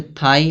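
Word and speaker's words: thigh: फिर दिया है यहां पे थाई लास्ट में जी एच आ रहा है तो जी एच जब जी एच साइलेंट होगा।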